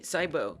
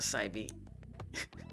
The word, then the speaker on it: Saibo: Thanks for the follow, Saibo. Not Saibi. Saibo.